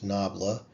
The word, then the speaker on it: nabla: This little upside down triangle is pronounced nabla, whose value at a vector x gives the direction and the rate of fastest increase.